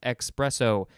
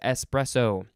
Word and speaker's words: espresso: i'll say it again espresso has no x in it it is not expresso it is espresso uh so this is